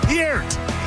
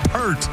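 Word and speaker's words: Peart: Neil Pier's last name is pronounced P E R T like the word pure with a T at the end, not like the shampoo P.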